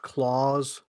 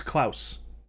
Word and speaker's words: Klaus: we can and yes are you sure it's not pronounced claws it's klaus i know i saw